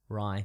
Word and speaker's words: Rai: Ry Ray Ray R how do you spell it r a i Ry not like the bread R yeah good stuff